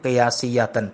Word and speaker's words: قیاسیۃ: ضربین سماعیۃ و قیاسیۃ، قاف کے نیچے زیر ہے، قیاسیۃ یہ صحیح لفظ ہے یعنی صحیح تلفظ ہے۔ فالسماعیۃ منها 91 عاملا